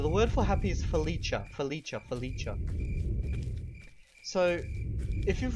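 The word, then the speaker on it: feliĉa: it as happy so the word for happy is felicha felicha and it's spelled f e l i c with a little hat on top of it a felicha now just so you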